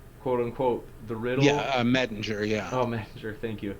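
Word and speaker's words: Mettinger: Bale as a dying rising deity by in parentheses Minger quote unquote the riddle. Yeah. Metinger.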